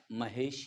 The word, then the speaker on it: महेश: plus इश लेकिन बच्चों जब इस शब्द का उच्चारण तुम करोगे इसका यही उच्चारण होगा मा है महाई क्या कहोगे महाई देखो उ और मैंने क्या कहा महा इश मैंने क्या कहा महा इश अब इसी को फट से बोलो तो महिष महा इश फट से बोलना है महिष तो उच्चारण हमारा क्या आता है महेश ही आता है महेश जब इसका